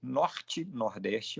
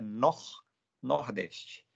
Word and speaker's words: norte-nordeste: Então, vai ser norte-nordeste, mas a pronúncia certa é nor-nordeste.